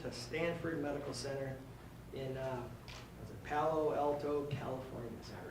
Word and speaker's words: Palo Alto: And by a miraculous answer to prayer, Edward was accepted to treatment to Stanford Medical Center in Palo Alto, California. Is that right? Did I pronounce that right?